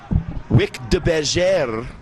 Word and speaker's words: Wick de Bergère: Looked like Wick de Bergère. Remember a couple weeks ago, that's actually a French Creole name, Rob, so that's how you pronounce it.